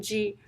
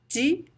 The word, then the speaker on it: de: on the accent uh you can pronounce the preposition g in many different ways you can say de de or g or d depends i always say g and but this syllable